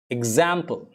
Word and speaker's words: example: more like exist exist example example it's like more like i than e be careful it's more